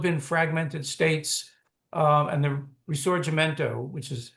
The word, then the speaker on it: Risorgimento: It could still have been fragmented states, and the Risorgimento, which is how that one is pronounced, but may never have happened.